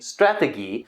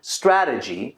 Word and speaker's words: strategy: Even though she makes 1 or 2 slight pronunciation mistakes, like saying Strategie, which is more of a German pronunciation for the word strategy, this is okay.